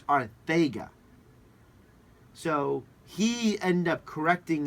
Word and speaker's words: Arcega: When he was in college, it was always pronounced Arcega. Okay. Right. But when he got to the NFL, he told the reporters, the Eagles beat guys, it's Arthega.